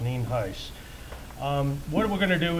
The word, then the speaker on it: Nienhuis: For the record, I'm Sheriff Nienhuis, Nienhuis, and it's pronounced Nienhuis.